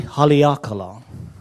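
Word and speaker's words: Haleakalā: So phonetically, Li. Okay. Ah. Okay, it's ha, li, ah, ka, la. E haliakala.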